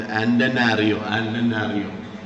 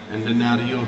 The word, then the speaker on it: Antananarivo: It's a difficult name to pronounce here. You can say Antananarivo. Antananarivo.